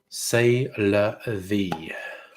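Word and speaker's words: c'est la vie: a little bit drunk say la vie or to pronounce it the proper french way says french get upset if you don't say it that way lord knows we don't want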